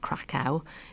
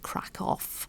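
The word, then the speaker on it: Kraków: We might think that this is a rhyme, but actually this place in Poland isn't pronounced crack. It's pronounced crack off.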